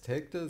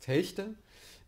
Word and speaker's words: Telgte: In der Nähe von Münster gibt es einen Ort, der heißt Telgte. Niemand dort kennt den Ort als Telgte, das ist Telgte.